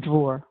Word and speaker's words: drawer: the only remnant, and drawer. Like it's in the drawer. You kind of forget the second syllable there.